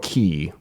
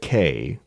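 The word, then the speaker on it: Cay: they and the reason they pronounce it K is because their tagline is have a perfect day at CoCo K and this this irritates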